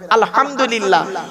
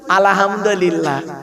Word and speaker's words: আলহামদুলিল্লাহ: আলহামদু, এই গলার ভেতর থেকে হেটা উচ্চারণ করবেন বাপেরা, আলহামদুলিল্লাহ। আলহামদুলিল্লাহ মানে হয় কি জানেন? সমস্ত প্রশংসা আল্লাহ তোমার। আর আমরা উচ্চারণ করি কি? আলহামদুলিল্লাহ।